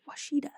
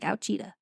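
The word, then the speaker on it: Ouachita: Washita. Does not look like how it's pronounced. And it looks like Ouchita.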